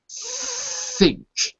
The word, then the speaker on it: think: didn't tell you yet, the pronunciation of th. Think. Think. Say that for me. Again, can you repeat? Think. Think. That's good. Very good. Because the first time I didn't hear the th sound.